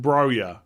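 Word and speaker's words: Broja: next few weeks so i'm reliably informed that this is pronounced broya right or something close to that anyway so that's what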